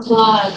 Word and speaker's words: climb: So for climb, it's B. So for flight.